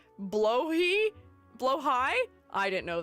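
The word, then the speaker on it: Blåhaj: It's pronounced blowhi. Blowh high. I didn't know that. Blowh high. I blahage.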